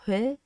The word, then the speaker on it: Huế: This is Huế, okay? Huế. So this is with an accent mark, it become Huế, okay?